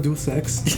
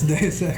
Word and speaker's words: Deus Ex: how it's pronounced X it's not du sex it's day sex it sounds like it's